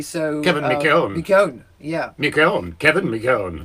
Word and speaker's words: McKeown: It's spelled, McKeown, MCKWEON, and he likes people to say it McKeown. McKeown. The proper way, the Irish way. So Kevin McKeown.